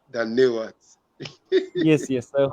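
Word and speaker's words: धन्यवाद: Hindi, Dhanyawad. Danewat. Oh, Tunjeje. Danewat.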